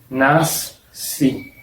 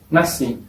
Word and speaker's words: nasci: Por ejemplo, la palabra nasci se escribe así, con SC, pero se pronuncia como si fuese solo la S, nasci. No tiene sonido de nasci, tiene sonido de nací. Esto en Brasil, pero en Portugal veo la gente diciendo nasci, con sonido de SH.